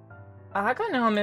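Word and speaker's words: Agnome: like forever alone aome is the Japanese pronunciation of azelf from Pokemon a gnome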